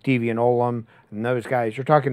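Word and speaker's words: Ollam: It's Deviant Olam, by the way. That's how you pronounce that. Okay. Even, I said Olam for years. I said Olam. So we interviewed him, but it's Olam.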